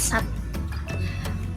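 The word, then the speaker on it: सात: Kalian harus bisa bedain ya antara sat sama sat yang pakai H. Jadi kalau S-A-A-T bacanya sat, artinya 6. Kalau S-A-A-T-H belakangnya ada hanya dan bacanya kayak ada sat gitu, itu artinya bersama-sama.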